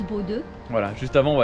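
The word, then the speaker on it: Bodø: Je pense que la prochaine grosse ville ce sera Bodo, qui se prononce Bodo.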